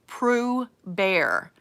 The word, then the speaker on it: Proeber: I asked somebody from Germany how it was pronounced, and it was actually Proeber is how it's supposed to be pronounced.